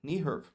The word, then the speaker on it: NEHRP: در واقع اینطوری بگیم برنامه ملی کاهش خطرات زلزله، نیهرپ. درسته؟ تلفظش نیهرپه، علیرغم اینکه اینطوری نوشته نمیشه.